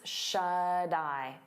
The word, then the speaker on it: shut-eye: And then shut eye, we turn that T into a soft D because it's between vowels, and you'll hear it on both words. Shut eye, die, die, shut eye, shut eye.